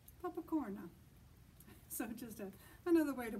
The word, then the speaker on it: popcorn: no what they say the word looks the same but they say papakorna papakorna so just another way